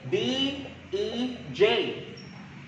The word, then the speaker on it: Dej: For example, kani, D-E-J. Karon, D. E-E. J. J. Pag isumpay na tanan, Dej. Hala, nga nang i-pronounce man nato na as Dej.